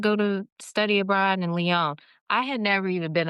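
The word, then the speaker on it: Lyon: And you also had experience of living abroad in how do you pronounce it? Is it Leon, France? Leon.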